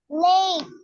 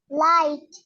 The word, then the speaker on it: light: এই যে জিএইচটা উচ্চারণ হচ্ছে না অনেক শব্দে, তো এখানে দেখো তো কি আছে, LIGHT। তাইলে এটা কি হবে শব্দটা, উচ্চারণটা? লেট। এটা কি? লেট। হ্যাঁ, লাইট।